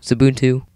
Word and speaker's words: Xubuntu: Today I'll be showing you how to make uh Xubuntu Zabuntu u yeah pronunciation is different between people anyhow uh look a lot like OSX.